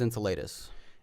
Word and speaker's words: Enceladus: The way I pronounce it is Enceladus. Enceladus sounds like ensalada, which is salad in Spanish, so that kind of sounds weird to me.